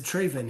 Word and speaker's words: Draven: him and i said draven he goes you got my name right it's like raven i said i know